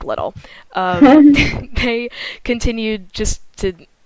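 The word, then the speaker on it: Liddil: his name is dick little so that's so unfortunate it's really unfortunate uh that is spelled d-i-c-k l-i-d-d-i-l so it's not spelled as little but his name is dick little um they continued just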